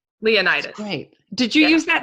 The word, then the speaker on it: Leonidas: Leonidas.